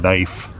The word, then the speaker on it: knife: Just for example, the word knife in English. Why is the K there? Why is the K silent?